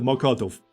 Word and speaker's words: Mokotów: So, here we got Żoliborz, Praga, Wola, Śródmieście, Ochota, and Mokotów. That's how you pronounce all these names, by the way.